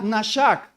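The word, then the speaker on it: נשק: el Antiguo Testamento el término beso suena nashak se escribe así la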